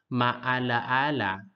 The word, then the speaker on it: maalaala: When a word has multiple vowels, pronounce each letter separately. The first one, example, we have maalaala, maalaala, maalaala, maala.